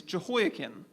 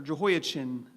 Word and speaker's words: Jehoiachin: Zerubbabel's father is Shealtiel, and Shealtiel's father is Jehoiakim, or Jehoiachin, depending on how hard you want to pronounce that CH.